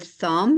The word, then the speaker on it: thumb: beginning of the end here's a silent B in the word thumb and also the th